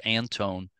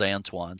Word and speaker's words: Antoine: me and said no it's pronounced Anton but it's spelled Antoine so I'm not sure